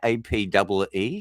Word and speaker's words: APE: How do I pronounce that? Is that APE? Do I actually say APE? APEEE?